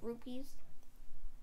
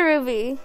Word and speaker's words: rupee: You're going to be annoying me each time you say it wrong. I'm not saying it wrong. I'm saying ruby like you said. Rupee. Not ruby.